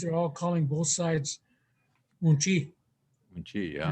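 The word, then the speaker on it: uŋčí: Yeah, on the mom's side, all right, it's umchi. So your grandmother, your mom's side is pronounced umchi.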